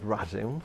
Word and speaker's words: Radim: This is how I pronounce it. It's Radim. Sounds like Adam.